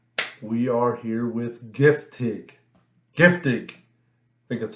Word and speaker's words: Giftig: Giftig.